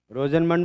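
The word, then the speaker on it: Rosenmund: रोजेनमंड reduction बोलते हैं। तुम लोग क्या बोलते हो? रोजेनमुंड रिडक्शन बोलते हो? रोजेनमंड बोलते हो रोजेनमुंड पे? जो भी बोलो, वैसे रोजेनमंड बोलना चाहिए।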